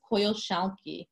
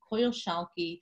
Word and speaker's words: Coyolxauhqui: The first one is Coyolxauhqui. Coyolxauhqui, lady bells her cheeks, or the lady with